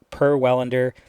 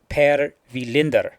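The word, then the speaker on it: Per Welinder: it is actually pronounced per vinder okay see I even got the accent in there that's the actual Swedish name way of pronouncing it okay it is per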